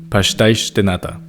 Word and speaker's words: pastéis de nata: In European Portuguese, you'll hear a lot of sh sounds, since the S pronounced at the end of words makes that sound. For example, pastéis de nata, or the region called Cascais.